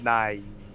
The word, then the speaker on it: Nighy: The guy- so his last name is Nighy. It's pronounced Nye.